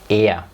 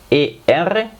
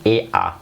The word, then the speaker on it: er: En el alemán er. Ahí también er, muchos lo pronuncian ea. No pasa nada, ea se entiende perfectamente.